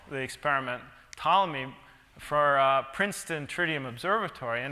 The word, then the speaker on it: Ptolemy: had called the experiment Ptolemy for Princeton Tritium Observatory, and now I was in this horrible dilemma that I have to move it. And well, somebody, my colleagues say, the P is silent.